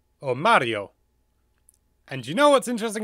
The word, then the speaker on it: Mario: to correct me but in Italian here would be Mario or Mario and you know what's